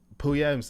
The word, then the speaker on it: Puya: Is it Puya? Am I pronouncing it right?